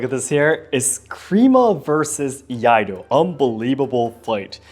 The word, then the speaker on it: Iaido: It's Iaido. It's Iaido. You need the E in between.